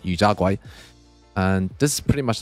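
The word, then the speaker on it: 油炸鬼: got this yu tiao, which is pronounced in Cantonese as yu jia guai, and this is pretty much like a fried churro that you dip in your congee.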